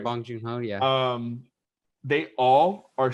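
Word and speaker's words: Bong Joon-ho: exactly exactly what her alfonso cuaron john uh bon joong ho i hope i'm no i'm butchering know you're saying it right bong jung ho yeah um they all are so involved like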